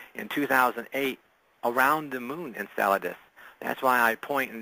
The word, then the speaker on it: Enceladus: you said in and how do you pronounce that Enceladus Enceladus Enceladus I even pronounce it wrong okay well things yeah